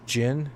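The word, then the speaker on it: Djinn: There's Jin, it's spelled Dijin, D-J-I-N-N.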